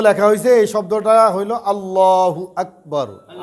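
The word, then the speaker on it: الله أكبر: এই শব্দটা হইল আল্লাহু আকবার। আল্লাহু আকবার, আল্লাহু আকবার। এটা বলার সময় মুখটাকে একটু গোল করব, দিলটাকে দিল থেকে উচ্চারণ করার চেষ্টা করবে, মুখটা ভরা থাকবে।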